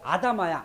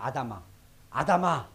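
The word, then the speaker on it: אדמה: 그래서 히브리어로 아담이라는 게 아다마야. 아다마. 히브리 발음입니다.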